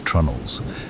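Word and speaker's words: treenail: Pronounced with the magnificent stubbornness of maritime tradition as trnels and later on better funded vessels with iron spikes as well.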